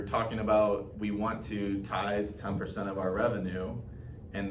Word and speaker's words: Tithe: confused is our name people don't know how to say it it's kind of funny uh so many like closings I go to title agents are like oh you're with teeth you know or something